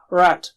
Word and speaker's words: رَ: And also, remember, it should be thick. Ra is thick. Ra is thick. You see the difference between rat and rot? Huge difference. Here the meanings don't change, but it is not nice. You have to say ra as thick. Arabic ra is between Mexican and English ar.